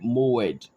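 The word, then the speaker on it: מועד: Okay, that Greek word that we use Hebrew word for season or the word moed, I believe, because I believe that is the right pronunciation.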